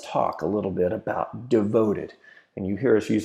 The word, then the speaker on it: DVTD: a little bit about devoted and you hear us use that phrase devoted and I'll tell you how you say it but it's actually spelled this way DB TD ok now this can